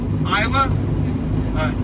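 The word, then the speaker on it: Islah: Isla? I-L... How do you spell it? I-L... I-S-L-A-H. Got it. Okay. Yes. No, that's how we pronounce it.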